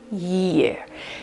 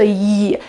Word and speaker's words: year: or say it loud, you can put your mouth, okay, in the position you would use to pronounce this word, year. So, year. If you notice, your tongue on the sides of your mouth is almost squeezed between your teeth.